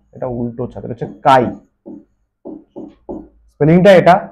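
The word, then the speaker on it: chi: এটা সোজা ছাতা এটা উল্টো ছাতা এটা হচ্ছে কাই স্পেলিংটা এটা সি এইচ আই ছি মনে হবে কিন্তু কাই প্রোনাউন্সিয়েশন টা কাই সম্ভব গ্রাহিতা কাই ঠিক আছে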